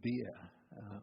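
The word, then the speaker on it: Behr: for example uh Hermann beer or I never forget the pronunciation rhyme b-e-h-r um was was here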